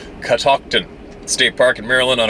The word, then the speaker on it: Catoctin: I drove up to Catoctin pronounced in catocton State Park in Maryland